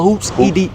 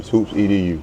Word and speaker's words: HOOPSEDU: this Hoops is it called Hoops Edo or Hoops Ed Hoops edu okay Hoops Ed so what you said first is how people pronounce it then it I tell them Hoops edu okay and it it came from my background